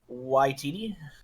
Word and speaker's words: Waititi: Waititi.